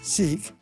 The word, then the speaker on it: Sikh: Just recently, I saw a story about a sick or as the British tend to pronounce it, Sik who are from India.